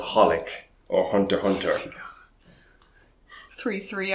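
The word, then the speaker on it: xxxHOLiC: doesn't exist oh no they just don't pronounce it that's why it's called holic or hunter hunter three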